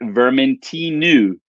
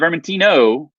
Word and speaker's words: Vermentinu: And then, wait for it, Vermentinu. Vermentinu, not Vermentino, Vermentinu.